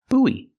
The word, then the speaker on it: buoy: sounds with the w w sound Bo buo buoy this is a buoy and this is